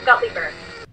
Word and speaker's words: Gutleber: tell me how to say it properly that's guppy bird there we go gottlieber yes i love that though that's so great